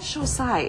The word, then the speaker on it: Xocai: They're called Xocai, and it's spelled X-O-C-A-I.